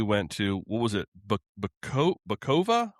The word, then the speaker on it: Bacova: Bacova? How do you pronounce that? Did I get that right? Bacova, yeah.